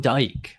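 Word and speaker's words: Doak: I'm reading Tom Dye. That's who it is. Pete Dye? Fucking dude. I butchered it twice now. It's obvious. It's Tom Dyke. Now I got it.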